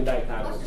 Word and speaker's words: dichotomous: Dichotomous?